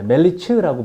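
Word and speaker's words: מליץ: 그리스어로 중제자 멜리테스라는 뜻이고 성경에 나오는 히브리어로 멜리치흐라고 발음해요.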